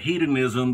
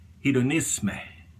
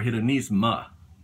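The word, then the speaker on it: Hédonisme: And some of you may pronounce it hedonism, but that's a derivative of the actual pronunciation. This is hedonisme or hedonisma, depending on how you want to say it. Hedonisme, and that is French, which basically it means about the same thing.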